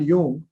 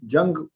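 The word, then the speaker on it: Jung: जी, तो एक बहुत बड़े साइकोलॉजिस्ट हुए, उनका नाम था कार्ल यूंग। गलती से कोई लोग उनको कार्ल जंग प्रोनाउंस कर देते हैं।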